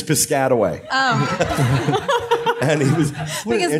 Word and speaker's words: Piscataway: It's Piscataway. Oh. And he was, Because that's how I pronounced it too.